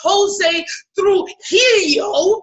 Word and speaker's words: Jose Trujillo: His name is Jose Trujillo.